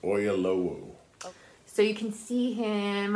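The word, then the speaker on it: Oyelowo: um a mini series of Les Miserables starring Dominic West and David I think it's I think his name is pronounced oyalo so you can see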